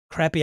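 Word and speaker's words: Craper: Crappy. How do you spell that?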